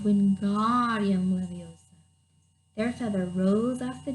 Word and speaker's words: Wingardium Leviosa: "Wingardium Levioso," he shouted, waving his arms wide like a windmill. "You're saying it wrong," Harry heard Hermione snap. "It's Wingardium Leviosa. Make the gar nice and long."